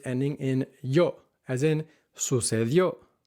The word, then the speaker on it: sucedió: And the mistake that learners tend to make is putting the emphasis on the second to last syllable instead of the last one, where the accent mark is, saying escribió or sucedió, or escribió or sucedió,